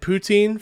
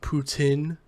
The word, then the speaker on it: poutine: so graciously corrected me, it's actually pronounced poutine, and I'm like, shut up, nobody calls it poutine unless you're French, and nobody in Alberta,